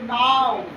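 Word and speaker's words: now: क्या उच्चारण हो रहा है, आओ, आओ उच्चारण हो रहा है। जैसे एच ओ डब्ल्यू, हाउ, एन ओ डब्ल्यू, नाउ, ओ डब्ल्यू, वाओ, आप लोग बोलते हैं ना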